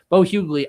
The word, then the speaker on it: Bo Hughley: And then Bo Hughley, as I've come to learn that it's pronounced, Bo Hughley, I think that is the starter.